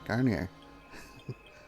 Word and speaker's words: Garnier: more recent one i did say it right garnier uh yeah so has got tortures and experiments